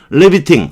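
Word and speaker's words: riveting: 리비팅. 아까 제가 리벳이라고 자꾸 발음을 했는데, 발음 한번 어렸을 때 잘못 배우면요, 안 고쳐져요. 참 문제예요, 저도. 리비팅. 이렇게 발음해요.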